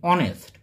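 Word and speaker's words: honest: সৎ কর্ম সৎ ইংরেজি অনেস্ট অনেস্ট শব্দটি বা ওয়ার্ডটি ইংরেজিতে এইচ দিয়ে শুরু হলেও এখানে শব্দটির উচ্চারণের সময় এইচ এর উচ্চারণটি হয় না তাহলে সেক্ষেত্রে আমরা এখানে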